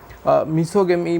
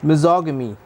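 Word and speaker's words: misogamy: मिज़ोगमी जो है मिसोगमी भी बोलते हैं कुछ लोग, बट इसका एक्चुअली करेक्ट प्रोनाउंसिएशन यहाँ पे मैंने दिया है मिज़ोगमी, ठीक है ना।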